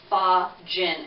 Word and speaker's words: fa jin: chi practitioner will practice pha gin exercises that is spelled f a and then another word j-i-n what that basically means